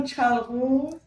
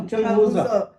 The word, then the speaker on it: Chilgoza: You call Chalgoz? No, Chilgoza.